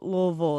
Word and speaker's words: Louisville: I'm going to go Goosey because I'm not quite sure how Louisville is.